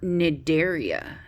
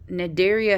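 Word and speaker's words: Cnidaria: in the ocean or nigeria nigeria has the see that's silent and that's jellyfish or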